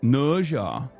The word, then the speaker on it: Nezha: Is it Nasia? Is that how you say it? Nasia and Nasia 2. Oh, it's Nasia.